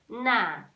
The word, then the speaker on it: Na: That bowl is Na.